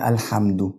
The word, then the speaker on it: الحمد: فبقول الحمد. الحمد كده انا ضميت الحرف بتاع الدال.